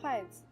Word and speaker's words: 筷子: The other word is chopsticks, which are called 筷子, the same pronunciation of 子 in 勺子.